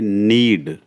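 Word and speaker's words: knead: इसमें के साइलेंट है, इसमें पढ़ेंगे हम NEAD। के साइलेंट तो रहेगा ये नीड। यस, ध्यान रखना इसका के इसमें साइलेंट है। नीड पढ़ेंगे।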